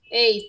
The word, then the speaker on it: ate: Es ate. Ey, también, ¿no? Pero se escribe ate.